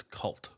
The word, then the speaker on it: K-Volt: We had K-Volt. It's from what I'm being told, it's Cult. So Cult. Yeah.